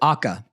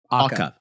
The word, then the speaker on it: Awka: I'm not sure how to pronounce it. Awka. Awka.